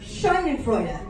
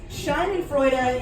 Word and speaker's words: Schadenfreude: They have this language, or they have this word in the German language pronounced Schadenfreude. Schadenfreude is 4 syllables of a word to